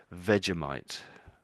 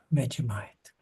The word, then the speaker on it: Vegemite: And I think they would pronounce it as Vegemite. Vegemite.